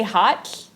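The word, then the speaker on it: ha7lh: it when you say hot it's spelled H a7l H so how you pronounce the L H is you put your tongue to the roof of your mouth and you blow so can't redo that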